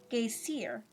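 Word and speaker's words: Geysir: the waters the geisha a word the icelanders pronounce gay seer in which snickifies fury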